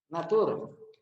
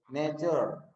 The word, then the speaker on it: nature: Well, the first is natur. Nah, bukan natur bacanya, ya, tapi nature.